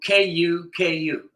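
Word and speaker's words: Kuku: learn first today is called cucko cucko ku ku not like cuckoo clock like a cuckoo cuckoo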